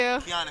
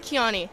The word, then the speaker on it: Kiana: Kiana, said it right? Kiani. Kiani. Good job.